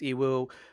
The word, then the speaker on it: Yiwu: It's spelled YIWU, but it's pronounced Iwu. I think basically the Y is silent and the I becomes an E or something like that. I don't know how Chinese works, but it's pronounced Iwu.